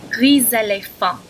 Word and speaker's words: gris éléphant: See, normally it'd be gris for grey. Éléphant, elephant. Together, gris éléphant, not gris éléphant. Because of the vowel after the S, you pronounce it gris éléphant.